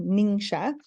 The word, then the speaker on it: Ningxia: ninga and talk about our ninga red drink and that is how you pronounce it it's a Chinese name ninga so our Young Living